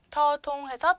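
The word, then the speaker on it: ธ ธง: 더통해서 평성, 평성이고요.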